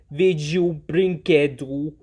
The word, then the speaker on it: LGLPB&DNA: For example, any animated film by the notorious LGLPB&DNA. Yes, that is actually how you pronounce that company's name.